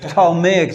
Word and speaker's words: Ptolemaic: known as ptolemaic right the p is silent palmeic dynasty so talmay dynasty